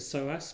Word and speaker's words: psoas: in yoga on on a muscle called the soas muscle um it's spelled PS o a and it's a muscle